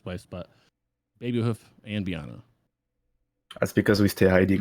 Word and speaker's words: Beanna: your name oh um so it's meant to be pronounced Biana but be nice final